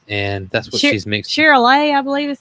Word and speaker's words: Charolais: She's a mix between, I know I'm going to say it wrong, Charlet, is that right?